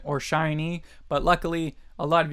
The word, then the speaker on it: SHINee: Gazette I just wasn't sure if they were pronounced shine or shiny but luckily a lot of you guys have